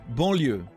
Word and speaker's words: banlieue: Banlieue is how it's pronounced.